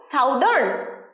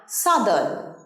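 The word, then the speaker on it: southern: আজকের ভিডিওর সবথেকে শেষ শব্দ দক্ষিণ দিক দক্ষিণের উচ্চারণ সাউথ দক্ষিণ দিক বোঝাতে কি বলবো সাউদার্ন না সাদন সাদন সাদন সাদন আমাদের বাড়ির দক্ষিণ দিকে একটা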